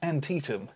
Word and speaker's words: Antietam: I'm pretty sure it's pronounced Antietam.